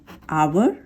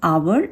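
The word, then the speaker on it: hour: जैसे for example, an आवर, एच हमारा vowel नहीं है लेकिन इसका साउंड एच साइलेंट है, यहाँ पर ओ का साउंड आ रहा है, एन आवर, इसीलिए इसके आगे एन लगाया है, ए नहीं लगाया।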